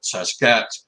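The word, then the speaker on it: sasq'ets: way to pronounce is take the word basket drop the b and add sas to it saskat and he misspelt and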